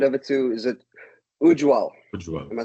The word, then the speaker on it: Ujwal: Ujwal. Am I saying that correctly? Ujwal.